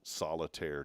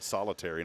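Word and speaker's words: solitaire: It's n it I'll say it the right way. It's national solitire day. Now somebody said solitary and I started thinking of prison.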